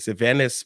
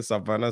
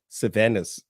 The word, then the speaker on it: Sylvanus: The man I first we know how to pronounce it, Sylvanus Pili. You know, we're about to say Savannah, Savannah, Savannah Pili. I said, no. Listen to me. Look at my mouth. Sylvanus.